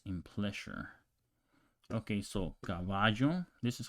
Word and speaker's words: caballo: Okay, so caballo, this is how you pronounce it in countries like Mexico, El Salvador, other not Uruguay.